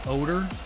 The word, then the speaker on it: Odor: like ruget odor um but they always pronounced it odor and the two brothers